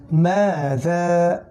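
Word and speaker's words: ماذا: দেখুন মিম আলিফ জবর মা, জাল আলিফ জবর যা, দুইটাই টানতে হবে। তাহলে মাযা, মাযা, মাযা, দুইটাই টানতে হবে।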